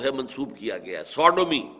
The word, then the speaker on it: Sodom: منسوب کیا گیا ہے، سوڈومی، سودوم۔ سودوم وہ شہر تھا، صدوم جس کو ہم کہتے ہیں، سوڈوم، SODOM، یہ بائبل میں اس کا تلفظ ہے، تو